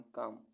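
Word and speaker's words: calm: पाम पाम मीस हथेली सी ए एल एम काम काम मी शांति एफ ओ एल के फॉक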